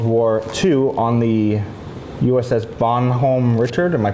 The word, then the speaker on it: Bonhomme Richard: home from World War II on the USS Bonhomme Richard. Am I pronouncing that right? Yeah, Bonhomme Richard.